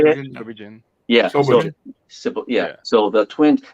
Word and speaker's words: Shobijin: Yeah, Shobijin.